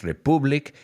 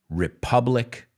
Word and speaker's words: republic: Cuidado con la pronunciación, no es republic, sino republic, right?